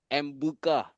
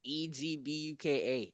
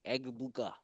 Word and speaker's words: Egbuka: What's the last name? Mbuka. It's Egbuka. Egbuka.